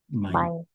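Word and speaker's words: mein: My mine. Mine. So in German, Ei. Ei is um pronounced as I I. That's how it's pronounced. This ei. Yeah. pronounce as I. So that's why it's mine.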